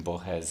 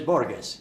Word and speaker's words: Borges: Oh, excuse my pronunciation. No, my pronunciation. Your pronunciation is the right. Yeah, Jorge Luis Borges.